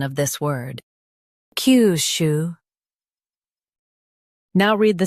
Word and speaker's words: Kyushu: Today we will learn how to pronounce the word shown on the screen. KYUSHU. Both US and UK have the same pronunciation of this word. KYUSHU.